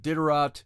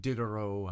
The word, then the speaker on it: Diderot: philosophies led by voltaire uh ditterat uh took diderot however you want to say his name is the t silent in french uh he they took